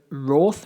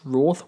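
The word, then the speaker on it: Wrarth: The monsters themselves, the Meep and the Roth Warriors, I'm pretty sure I'm pronouncing that correctly. I thought it was Wrath Warriors, but the way the Meep pronounced it, I think it was Roth Warriors, if I remember correctly.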